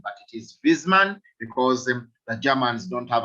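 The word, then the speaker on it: Wissmann: what a w yes but germans do not have a w in the pronunciation that w is pronounced as a v that is why i'm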